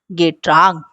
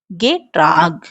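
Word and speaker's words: Getränk: " गेट्रैंक।" "गेट्रैंक," ठीक है? यह, इसे देखो, यह A यहाँ एक उम्लाउट है।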